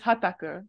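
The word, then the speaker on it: はたく: So hataki and tataku, so it's hataku right here. These are the same verbs, same kanji, but they're pronounced differently. Tataku, hataku.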